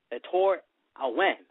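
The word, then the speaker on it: Ettore Ewen: His real name, let's give you that right now, his real name is Etor Awen. That's exactly how you pronounce it.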